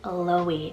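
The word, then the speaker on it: Loie: means Snowdrop I also found recently the name Louis spelled l-o-i-e Louis and this one here is a French rooted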